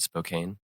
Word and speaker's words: Spokane: I think like Spokane or, am I pronouncing that city right? Spokane?